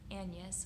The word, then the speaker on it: Agnes: tutor and his wife anias which is spelled like agnes and so two different